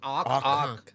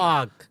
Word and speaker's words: आग: Up to, if you keep So a pronouncing Tamilian- it wrong, Yeah. keep saying arc.